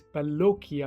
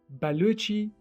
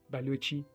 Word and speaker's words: Balochi: Baluchi language. Not Baloki language. It is Baluch people from Balochistan who speak Baluchi language. How difficult is that? Ch as in chocolate or Charlie Chaplin.